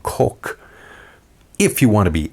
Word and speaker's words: Koch: the pores Heckler and Koch as most people at least those who don't speak German would pronounce it what that's not how you say the company's name nope it's actually pronounced Heckler and Coke if you want to